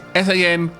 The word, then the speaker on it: Sanguine: I've got a note that it should be pronounced SAN-GWIN. Normally I would pronounce this word sanguine, but I hope I have got that right.